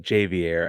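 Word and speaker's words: Ja'Vier: it Javier Javier Francis Samson himself says it jvier I jvier we're trust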